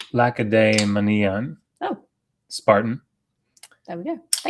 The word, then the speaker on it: Lacedaemonian: He says it's pronounced Lacedaemonian.